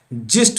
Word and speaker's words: gist: उसी तरह से यहाँ गिस्ट नहीं होगा, यहाँ पर क्या होगा, जिस्ट होगा।